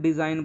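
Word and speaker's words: design: है डिज़ाइन की स्पेलिंग बहुत से बच्चे इसको डिज़ाइन ना बोल के देसी गईं या फिर कुछ और ही प्रोनाउंस करते हैं तो बच्चों वह बिल्कुल गलत है इसको ना हम डिज़ाइन बोलेंगे यहां पे जो जी है वो यहां पे साइलेंट है क्योंकि ये एन से पहले आया है इसलिए हम जी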